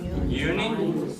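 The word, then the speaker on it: Juni: Jun uni uni remember the J is pronounced like a y always uni July Julie 86 o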